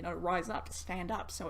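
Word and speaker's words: Rize: And then, of course, Rise, R-I-Z-E, yes, you pronounce it Brisinga Rise. I know that there's only one R in there, but I just thought I'd set the record clear for you guys, because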